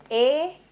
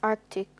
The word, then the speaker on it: Arctic: Olivia, what's the correct pronunciation of the word spelt A-R-C-T-I-C, which relates to regions around the North Pole? Arctic. Judges. That's incorrect, Raisha. Yes, miss. Arctic.